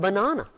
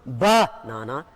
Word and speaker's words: banana: And in the same way, the word banana. It's not banana, it's banana. The stress is on na, banana.